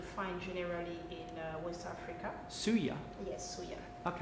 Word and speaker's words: suya: Top This paprika this is no this is suya spices suya that's a blend of spices that you find generally in West Africa suya yes suya okay how how you spell that